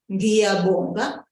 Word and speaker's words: ngiyabonga: Pay good attention to that NG sound. There are two consonants there together, and so they make one sound. Don't separate the sounds of the syllable. Don't make it an It's not a separate sound. Both of them work together to give us the sound G.